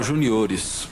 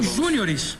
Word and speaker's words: júniores: Campeonato juniores Eu manteria o acento na primeira do... Já que é uma palavra estrangeira mesmo. E como é que você... Júniores.